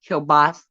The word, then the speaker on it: kielbasa: I call it kielbasi, but I think you say it like kielbasa.